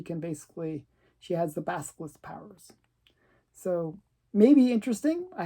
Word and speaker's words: Basilisk: He couldn't pronounce the name, but it's Basilisk.